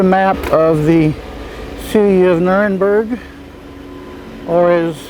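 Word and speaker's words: Nürnberg: around here's a map of the city of nurburg or is it's pronounced in most places nernberg like it is here north of the river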